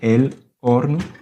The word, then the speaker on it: horno: Le four ici, on dit el horno. Y lleva una H. Sí, exactamente. Se escribe con H.